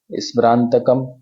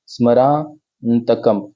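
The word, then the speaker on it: स्मरान्तकम्: अलग-अलग चार भागों में स्मरंतकम स्मरांतकम तो अब देखिए स्मरा आधा न त कम आधा न का भी उच्चारण स्मरंतकम तो मैंने उसको स्मरंतकम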